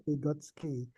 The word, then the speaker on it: Vygotsky: Tulisannya Vygotsky. Oh, Vygotsky ya, Vygotsky. Tapi bacanya Vygotsky.